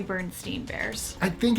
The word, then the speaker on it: Berenstain: I always say Berenstain Bears. I think it's kind of how you pronounce it. Like, it's, even Berenstain is stain, still comes out steen.